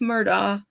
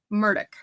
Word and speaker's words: Murdaugh: So if you're from the north, we all say Alex Murdaugh, but down there they say Alec Murdoch.